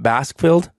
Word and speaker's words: Baskfield: So your last name is, do I pronounce this right, Baskfield? Correct, Baskfield.